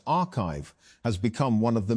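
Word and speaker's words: arXiv: Although papers are posted to the site before they are peer-reviewed, ORIV, pronounced archive, has become one of the main ways that research circulates in fields like computer science and math.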